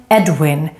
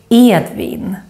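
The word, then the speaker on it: Edvin: and I play Wilhelm notice that it's not Edwin no it's Ian the Swedish ear sound is very important then we have demon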